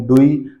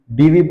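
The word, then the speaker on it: Dewey: किसको कहेंगे हम कहेंगे जॉन डूई डीवी जॉन डीवी बोल देते हैं कोई लेकिन सही प्रोनाउंसिएशन क्या होगी John डूई father of child centre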